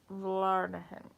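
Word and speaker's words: Vlaardingen: i'm not sure v-l-a-a-r-d-i-n-g-e-n but the g is pronounced like an h like a a guttural h velarden willem is so diligent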